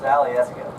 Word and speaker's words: Alyeska: That word is actually pronounced Alyeska.